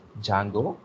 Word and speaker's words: Django: So don't pronounce it as Django because D is silent, so pronounce as Django.